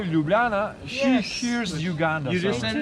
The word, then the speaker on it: Ljubljana: In Slovenia, first of all, I want to hear you how you pronounce the city's name. Ljubljana.